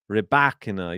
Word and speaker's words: Rybakina: Emphasis on the second syllable in Rybakina.